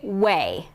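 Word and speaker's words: OUAI: going to show you it's o u a i i had to do some research to figure out how to pronounce it you pronounce it way that's how they pronounce it and i'm obsessed obsessed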